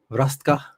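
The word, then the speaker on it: Hrvatska: the creation way of saying croatia uh h-v-r-a-s-t-k-a rastka um but yeah thank you for stopping by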